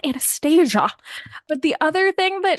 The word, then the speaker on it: Anastasia: down to the prononciation she's like it's Anastasia it's not Anastasia but the other thing